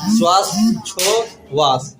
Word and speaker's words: श्वासोच्छ्वास: मतलब ये जो स्व है ये थोड़ा साइलेंट रहेगा, श्वास छो मतलब वहाँ बोलेंगे उसको, लेकिन वो अंदर रहेगा, श्वासोच्छ्वास। ठीक है, तो ये जो